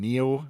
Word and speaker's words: NIU: people say news right yeah yeah this is pronounced neo it's a chinese word it means ox or